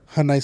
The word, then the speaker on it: Hyundai: someone like from Hyundai say that it's Hyundai like Sunday. Hyundai. Yeah. It's supposed to be like that? Yeah. Hyundai?